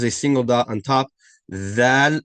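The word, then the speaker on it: ذال: Val is pronounced by placing the tip of your tongue. Placing pressure on the tip of your tongue by placing at the bottom edge of your top two front teeth.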